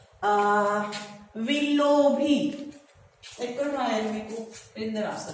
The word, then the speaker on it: Willoughby: Pronounce it. Willoughby. Again, Willoughby. Willoughby.